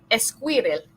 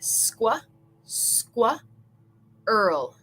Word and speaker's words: squirrel: Muchas veces yo escucho como squirrel. We want to say squa, earl.